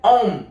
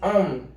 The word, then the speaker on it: Ohm: Leis de Ohm, não é Ohm não, viu gente? É Ohm, tá? Pronuncia assim, Ohm, tá?